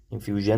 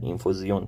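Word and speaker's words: Infusion: این سری عطرهای اینفوزیون چون اسم فرانسویه اینفیوژن نمیگن اینفوزیون تلفظ میشه این خانواده اینفوزیومون به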